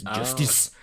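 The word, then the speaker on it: Justis: but it's spelled j-us tis so they actually pronounce it is Justice um but then there's a there's a bit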